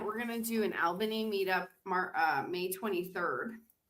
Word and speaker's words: Albany: It's not all, but it's Albany, but but but you're right. It's You pronounce it all.